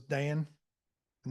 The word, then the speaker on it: Dana: Your dad's name was Dan, and that's why it's pronounced Dana.